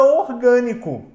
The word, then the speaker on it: orgânico: Então basta agora a gente olhar pra palavra orgânico. Quando a gente pega a palavra orgânico, a gente observa, ó, que a sílaba mais forte é o g. Então ela de fato é uma proparoxítona. Guilherme, se a palavra for